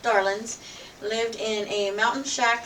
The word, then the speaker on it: Darlings: The Darlings, usually pronounced Darlins, lived in a mountain shack somewhere in the mountains neighboring Mayberry.